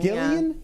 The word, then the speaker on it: Gillian: Gillian Flynn's Gillian Flynn I believe it's Gillian Flynn's hard G sharp objects well and